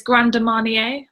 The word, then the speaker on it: Grand Marnier: king from the blog called how do you pronounce is it grand marnier it's grand marnier okay go to mania and you are um